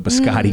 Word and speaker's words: biscotti: The biscotti gotti, Biscotti.